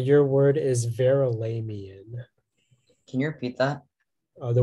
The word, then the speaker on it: Verulamian: The only pronunciation is Verulamian.